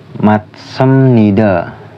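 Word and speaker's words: 맞습니다: Yang contoh ketiga, jika biop ketemu nian, yaitu matsamnida. Tulisannya kan maj sabnida. Itu jiat bisa dibaca itu matsamnida, yang artinya benar.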